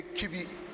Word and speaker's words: Kibi: chbi to be precise when it comes to the English lingua we say kibi permit us to say so so it rhymes with everybody we have another multi-purpose